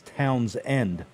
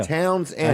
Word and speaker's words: Townsend: saying towns in delaware the way they pronounce it up there is town's end really yeah yeah towns and i know it's spelled like townsend like towns and yerkes